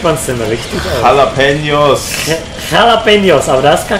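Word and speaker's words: jalapeños: Jalapenos. Jalapenos, aber da ist gar kein CH. Ja, das stimmt, aber die Spanier sprechen das J als Ch aus, deswegen hast du unter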